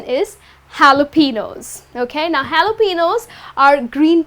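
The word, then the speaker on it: jalapeños: Many people end up pronouncing it as jalapenos or jalapenos, but the correct pronunciation is jalapenos.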